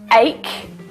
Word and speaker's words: ache: okay thank you but in the word ache it's pronounced like a k again this is why